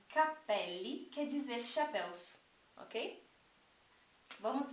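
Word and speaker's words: cappelli: quer dizer chapéus tá percebam como a diferença na ênfase da pronúncia muda totalmente o significado então Capele quer dizer cabelo e Capelli quer dizer chapéus ok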